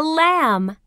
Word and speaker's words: lamb: your knee page 66 silent letters MB e a listen and learn this is a lamb what's the ending sound in Lamb that's right um lamb can you hear the sound in Lamb no that's right the B